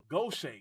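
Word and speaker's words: Gautier: yeah pas like pasoula gocha we say goch but it's spelled godier all that was already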